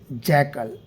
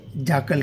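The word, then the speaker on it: jackal: आज का हमारा टॉपिक है द ब्लू जैकल। इससे हम लोग गाय जाकल कहते हैं, जैकाल नहीं कहेंगे, सही प्रोनाउंसिएशन इसका होगा जाकल।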